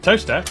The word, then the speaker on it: Towcester: Starting in Beaulieu, Beauly, head over to Rampisham, Ransom, then down to Mousehole, Mousel, next travel north up to Towcester, Toaster, then a quick jaunt to Gotham, Gotham, followed